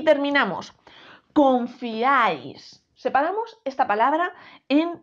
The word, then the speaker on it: confiáis: palabra palabra sí fijaos es una palabra aguda El golpe de voz está en esta sílaba y además termina en